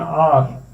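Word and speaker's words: hour: he return after an आवर, ठीक है, आ sound आ रही है, एच जो है इसको साइलेंट कर दिया है या स्किप किया हुआ है, ठीक है, तो यहाँ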